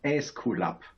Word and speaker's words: Aesculap: I can tell you the German version, which is Aesculap. And that's deriving from the Greek god of health, which is in Greek language is Asklepios, or in Latin Aesculapius, and that ends up in Aesculap.